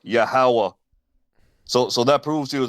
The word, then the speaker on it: Yahweh: Tetragrammaton, the like the Strong's Lexicon Dictionary will say Jehovah, but it's actually pronounced Yahweh.